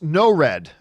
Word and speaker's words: Nord: Next up, Jackmaster Nord writes, Nord is pronounced no-red. Oh, not Nord, one of two.